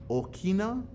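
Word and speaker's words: ʻokina: it in hawaiian spelling in the hawaiian language we say this okina u that's the hawaiian way we say it okay so let's go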